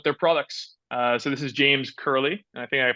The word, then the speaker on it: James Curley: So this is James Curley, and I think I pronounced that correctly.